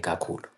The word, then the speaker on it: kakhulu: Remember, I said kakulu, the u, the last u, you have to say it.